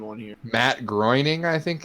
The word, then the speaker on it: Matt Groening: Matt Groening, I think it's how it's pronounced.